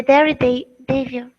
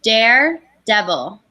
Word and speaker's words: daredevil: We would say just 3 syllables. Dare, devil.